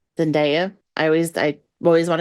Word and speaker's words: Zendaya: Nabu D and Ruku Dada Nabu would be zanda Zenda I always I always want to say it